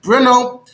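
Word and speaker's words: Brno: uh he was in bruno today it's uh in the moravia today that's in the czech republic today it's pronounced something like bruno and uh that's where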